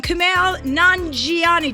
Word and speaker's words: Kumail Nanjiani: Okay, please welcome Kumail Nanjiani.